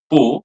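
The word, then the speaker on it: peau: third row second word which is pronounced as po and it means skin this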